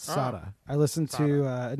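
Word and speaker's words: Sara Ramirez: kevin had said i think you're like well sarah ramirez which also i will say not only did we miss gender uh the actor's name is pronounced sada ramirez it's sada i listened to uh an interview with michael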